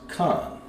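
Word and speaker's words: כן: So yes, in Hebrew would be pronounced Khan.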